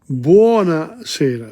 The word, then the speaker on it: buonasera: But notice here the pronunciation of Italian. Look at this. Buonasera, B-U-O-N.